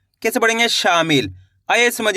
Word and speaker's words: शामिल: देखिए किस तरीके से, शा माँ की मात्रा शा, माँ में छोटी ई की मात्रा मी, ल, तो मिलके बन जाएगा शामिल। कैसे पढ़ेंगे? शामिल।